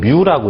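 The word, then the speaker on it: μ: 그 기호는 마이크로랑 똑같이 생겼지만은 읽을 때는 뮤라고 읽어요. 뮤.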